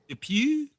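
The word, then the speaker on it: Dupieux: And then Quentyn, how do you pronounce is it Depw? How you pronounce his name? Depu.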